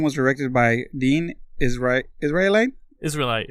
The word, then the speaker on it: Israelite: Israelite, like Israel, like the country.